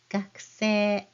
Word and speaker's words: 学生: The word for that is 学生, 学生.